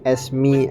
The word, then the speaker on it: Esme: And I know it's pronounced Esme as in like Esmeralda, but I just say it as SMS because I think it's cooler.